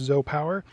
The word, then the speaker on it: ZOUPW: Here today with a Zo Power solar panel spelled ZOUP PW, but it's pronounced Z Power.